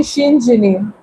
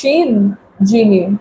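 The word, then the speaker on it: Shinjini: Uh, if you want to pronounce my name, you can just say Shin Jini. It's simple. It's just Shen Gini.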